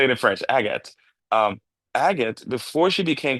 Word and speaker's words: Agathe: See, Agatha, is Agatha, is that the correct way to say it? Okay. So Yeah, you, it's right. that's Agathe right.